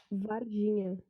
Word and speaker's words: Varginha: Varginha. Oh, it's like Virginia. Virginia.